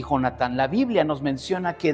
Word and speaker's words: Jonatán: Ahora, la importancia de quién era hijo, de Jonatán, o Jonathan para los que quieran pronunciar muy inglés.